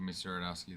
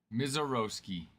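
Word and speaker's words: Misiorowski: I keep pronouncing it like that and I'm like, you know what? Let's go the pronunciation guide. Meroski. Miseroski. There we go. Miseroski.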